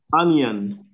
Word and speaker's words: onion: And an example is onion. Onion. Huh? So the onion, the I, yeah, the I is a y sound.